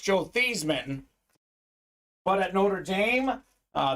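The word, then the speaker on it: Theismann: of these guys gonna be haven't uh Joel Theisman actually his name was pronounced Joe these men but at Notre Dame uh the pr staff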